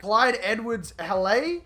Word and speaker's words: Clyde Edwards-Helaire: At the end of season 4, the LSU junior running back, Clyde Edwards-Helaire.